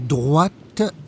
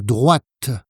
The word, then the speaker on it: droit: À droite, à droite, à gauche et tout droit, tout droit. Attention donc à la différence de prononciation entre droite et droit. À droite, tout droit.